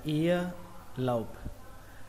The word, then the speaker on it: ear lobe: Từ tiếp theo câu đó là ear lobe, âm ở đây âm âu các bạn nhé, xuống giọng.